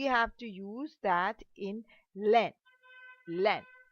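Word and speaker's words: laine: So we have to use that in len len. Len means we have kept a i in l a i n e silent. So we use that as len.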